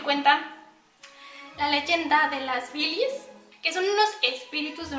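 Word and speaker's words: Wilis: se convierta en una Billies. Si bien esta palabra en alemán se escribe con W, pero se pronuncia como V.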